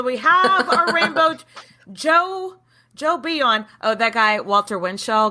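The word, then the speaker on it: Jo Bouillon: because it's like nice is that how you say it the beyond the um I'm sorry I've been saying it wrong so Joe bouillon so you call him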